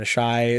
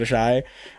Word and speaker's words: Asshai: Duncan Egg Scooby-Doo Adventure in Asshai. Stannis is a hypocrite. Yep. Patire. I pronounce it Asshai.